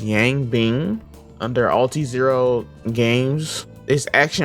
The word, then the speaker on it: Yang Bing: Developed by, I believe his name is pronounced Yang Bing, under Alti-Zero Games.